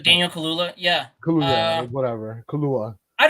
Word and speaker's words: Kaluuya: Kubuya. Sorry, I butchered his name. Daniel Kaluuya.